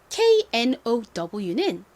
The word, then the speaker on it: know: 알다는 어떻게 발음하냐면 KN이 이렇게 연달아 올 경우 K는 보통 묵음이 됩니다. 그래서 N의 니은 소리가 나고요. 그 다음에 이중 모음 OW가 왔는데요. OW는 O 혹은 OW 소리가 나요. 이 단어에서는 O 소리로 쓰였습니다. 그래서 연결해보면 know가 되죠. KNOW라는 이 단어도 굉장히 중요하니까 한번 발음 연습해 볼게요.